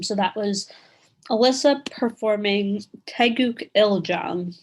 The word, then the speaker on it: Taeguk Iljang: So that was Alyssa performing Taeguk Iljang. That is the correct way to say this form.